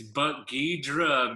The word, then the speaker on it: Buck Gidra: We have Buck Gerda, or Buck Gidra. How do you pronounce that one, Buck? It's Buck Gidra, Mr.